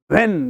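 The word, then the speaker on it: when: Again यहाँ पे व्हेन नहीं बोलना है, हा का साउंड नहीं लाना है, व्हेन बोलना है, व्हेन डू you want to come, व्हेन डू you want to call मी. यहाँ पे आपका उच्चारण व्हेन ही होगा, व्हेन गलत होगा, जबकि आपका उच्चारण व्हेन होगा.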